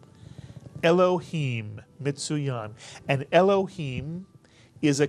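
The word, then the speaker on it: אֱלֹהִים: So it's a two-syllable word. The first syllable is elo, mitsuyan. The second syllable, him, mitsuyan. Put the word together. Elohim, Mitsuyan.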